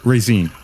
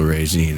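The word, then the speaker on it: Raezeen: you are now yeah raisin raisin hey c spell that just like it sounds r a e z e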